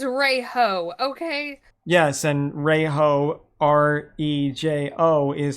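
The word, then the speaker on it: rojo: Yes, and Reiho, Rejo, is how you say red in Spanish.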